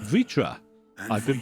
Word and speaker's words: Vritra: I am Vritra. Vritra. And I've been for pronouncing it years wrong.